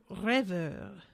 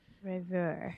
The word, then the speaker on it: rêveur: Rêveur. That's how you say it. Rêveur. Rêveur. I cannot do it again. Do that throaty thing.